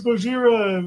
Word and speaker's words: Gojira: oh, fucking Japanese, like, oh, it's Gojira. But ironically, we're the ones saying it wrong.